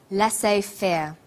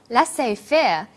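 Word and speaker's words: laissez-faire: he uses the phrase laissez faire laissez faire is a borrowing from French it closely reflects the pronunciation of the original language and the original spelling do you know the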